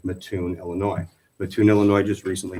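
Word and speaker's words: Mattoon: be also done like matun Illinois matun Illinois just recently changed theirs and theirs was not that's matune sir I believe the correct pronunciation is matun I appreciate that thank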